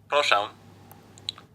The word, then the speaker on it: Proszę: Proszę.